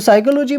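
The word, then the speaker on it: psychology: हमारी हेल्पफुल है तो साइकोलॉजी में देखो कौन सा लेटर साइलेंट है या नहीं है तो देखो साइकोलॉजी में जो लेटर होगा वो साइलेंट नजर ए रहा है ना ठीक है तो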